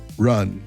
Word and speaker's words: Ran: Come back for Ron or Ron. Just say it like you're saying the name Ron. Like a guy named Ron. Just pronounce it like that. Ron. Like Ron. Ron. Like a soft a, not ran.